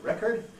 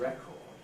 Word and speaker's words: record: the noun a record Americans sometimes weep in the second vowel and say record but on the whole in British English we don't we keep a strong vowel always in the second syllable and say a record and towards the bottom